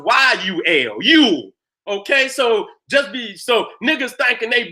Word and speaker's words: Yule: It's spelled many times J-U-L. Yule. But it's still pronounced Yule.